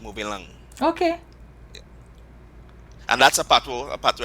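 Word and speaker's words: mové lang: So the patois alphabet is MOV E acute, like E acute, and L With the accent over the E, right? That's when you say going E right. acute. Right. As in like in the Kote here, and lang would be LANG, moving lang, Okay.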